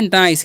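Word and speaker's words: nice: यहां पर आई का उच्चारण आई होगा क्योंकि ये देखिए आई वोवेल है और फिर से सी कोसोनेंट है और लास्ट में इज अ वोवेल है। तो पहले वाले वोवेल का उच्चारण होता है। इस तरीके से अगर मिले तो।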